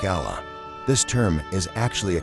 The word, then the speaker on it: Allah: word for God a is not pronounced with a strong emphasis on the a as in Turkish instead they say Allah more like Allah this term is actually